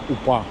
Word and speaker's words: Упа: Тулу протекает река упа посмотрел специально ударение на на а букву необычное звание упа А ещё здесь родился